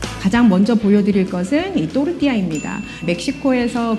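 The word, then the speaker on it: tortilla: 다르게 나타납니다 자 그러면이 또르띠아 거 여러분들은 아마 토티야 알고 계실 거예요 그러니까이 멕시코 문화라는 것이 미국을 통해서 우리나라에 전달이 됐기 때문에 그래서 이제 영어식 발음으로 토티야 그리고이 옆에 보시는이 음식네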